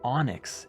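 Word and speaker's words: Onix: was an adult then there's the Pokémon Onyx which is spelled om YX except it's not because if you pull out your cards actually let me get mine where did I put my cards let's take a blast to the Past into the 9s Onyx is spelled o n iix and this stuff just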